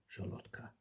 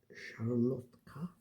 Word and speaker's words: szarlotka: And so, our final question about Poland, at any rate, is: what's the main ingredient in a Polish szarlotka cocktail?